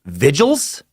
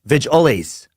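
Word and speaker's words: Vigiles: word vigil but then when you add an es to them like vigils is what I want to say but then the pronunciation guide says vigil is vigil ace modulus modulus about home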